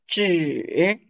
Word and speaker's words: 纸: Zhi. Zhi is paper. Paper. Zhi. So you see, syllables actually they make sense.